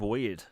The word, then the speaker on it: Wyrd: The next one they showed was Hellboy: Web of Weird, and it's spelled WYRD.